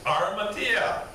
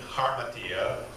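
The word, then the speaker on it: ἁμαρτία: Armatia. Anybody say that? Armatia. Armatia, okay. Some people will add an H to the beginning, harmatia, but the H is silent.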